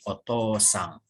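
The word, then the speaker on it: お父さん: akan menelpon ayah Hai ini dibacanya Cici karena tidak ada Oh sebelumnya ya kalau ada Oh sebelumnya Nanti dibaca dibacanya menjadi otosang artinya Ayah kamu nidn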